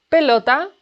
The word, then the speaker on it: pelota: Pelota. Pelota. Pelota. The stress is in LO.